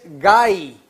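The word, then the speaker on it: γῆ: En griego la palabra tierra es gai, se escribe G, H, A, Y.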